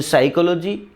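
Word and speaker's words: psychology: नहीं चलेगा है ना जैसे साइकोलॉजी की स्पेलिंग स्टार्ट होती है पी से पी एस से है ना तो पी साइलेंट रहता है अब कहां कौन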